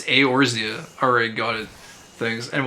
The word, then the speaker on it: Eorzea: I feel like I'm saying the O too hard. It's probably just like Eorzea. It's probably like 2 syllables or something. It's probably just Orza. Orzea. The E is probably silent. It's probably not Eorzea. It's probably just Orzea. I might just start saying it like that because